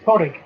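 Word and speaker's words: Pàdraig: The one that always gets me is Porrig. It's what? Porrig. Oh, Porrig! Yeah. Okay. Which, from the way it's spelt, I would imagine is. Forgive me if I get this one of these two wrong. Gaelic? Gaelic Scottish, isn't it? Gaelic for Patrick.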